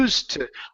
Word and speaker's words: used to: So, yeah, no need to pronounce a D. It's a T sound.